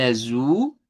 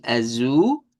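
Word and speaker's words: azul: Ya de ahí tenemos otro más que sería el azu, que en este caso es palabra que termina con l que se pronuncia con u.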